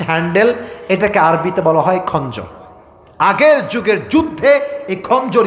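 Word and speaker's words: خنجر: ব্যবসা করি চাকুর ব্যবসা এটাকে আরবিতে বলা হয় খঞ্জর এটার নাম কি উচ্চারণ করেন সবাই এটার নাম হচ্ছে খঞ্জার নাম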